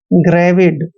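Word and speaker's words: gravid: means क्या हुआ जानलेवा जी आर ए वी आई डी जब भी जी के बाद आर आता है या कोई कंसोनेंट आता है तो जी का उच्चारण ग करते हैं आर को र लिखते हैं ए को ए की मात्रा पढ़ते हैं ी का उच्चारण व करेंगे आई को छोटी की मात्रा पढ़ना है और डी को पढ़ते हैं ग्रेविड दोस्तों ग्रेविड होता है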